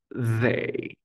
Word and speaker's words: they: vibración Mira M M pongo la lengua entre los dientes no toda la lengua o sea y luego repuso Mis dientes sobre mi lengua Pero no no me presiono ya está ahora soplo hay una vibración bien ya la tienes Ahora quiero que digas they they Hazlo de forma sutil rapidito they they they Y esa es la forma correcta vale continuemos luego tenemos